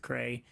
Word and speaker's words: CRA: We have a really wonderful relationship with, help me pronounce it right, Cray. I used to call him CRA. That was corrected.